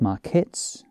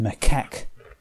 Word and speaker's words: macaque: this image of like marquettes i think it was future me here it's pronounced macaque i think that's the